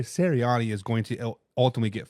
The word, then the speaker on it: Sirianni: Sirianni. Sirianni is going to ultimately get fired by the end of this season.